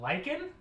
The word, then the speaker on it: lich: Well, do you just pronounce that lich? Yeah. That's lich. I pulled from the word lichen, so I said lichen.